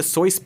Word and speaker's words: Seuss: Take the exhausting Dr. Seuss debacle, and yes, that's how it's pronounced, do not cancel me.